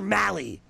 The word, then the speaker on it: Mahle: malli I see and he knows he corrected me Tyler Molly I don't know anything